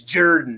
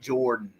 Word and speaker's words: Jordan: It's spelled Jordan, but pronounced Jordan. That's a big show. Oh, they'll let you freaking know it. It's Jordan, not Jordan.